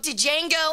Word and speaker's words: Django: Django Unchained. Or it's just Django Unchained, but it's spelled Django.